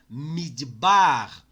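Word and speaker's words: מִדְבָּר: que é o Range esta sílaba é a sílaba tônica você vai pronunciar midbar midbar midbar como esse Cambridge está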